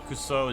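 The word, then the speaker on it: くそ: The kuso is 2 syllables in Japanese.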